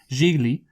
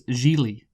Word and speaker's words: Gigli: crazy movie but anyway jiggly however the you pronounce it uh I oh no it's Julie that's that's it really like